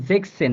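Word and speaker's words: sechzehn: আমি বুঝাই নাই সরি দেখেন জেকসেন হ্যাঁ তো জেকসেন এখানে এস টা উঠে যাবে আর কি হ্যাঁ এই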